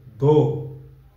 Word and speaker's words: door: Door. Open the door. No. You have to put some R, alright? Door.